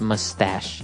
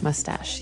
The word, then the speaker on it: mustache: no really sh sound like sh but you pronounce it mustache mustache yeah so that's one kind of facial hair